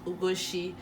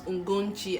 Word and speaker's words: Ugochi: So people pronounce Ugochi, some people pronounce Ungonchi, and this is annoying.